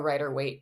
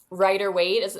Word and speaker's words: Rider-Waite: Am I pronouncing Rider-Waite. Right? I don't know. I've never heard of this. Is that the name of the people who made it or something? Waite. So yeah. I think you're saying it right, Rider-Waite.